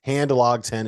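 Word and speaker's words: Handlogten: the know that said it's the last name is not that hard to pronounce it's hand log 10 and just put it all together so Hand locked in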